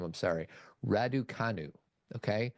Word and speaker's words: Raducanu: I can't pronounce her last name. I'm sorry. Raducanu. Okay. Raducanu.